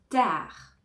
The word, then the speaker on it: tard: les vacances commenc bientôt tard tard tard on ne prononce pas le D donc à une heure